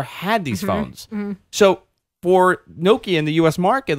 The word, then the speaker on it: Nokia: don't even know like it's actually nokia right yeah it's not even nokia i know i say it wrong i know i watch i watched that commercial that video for the 10 20 that they had and i'm like nakia yeah that's an o it's not an a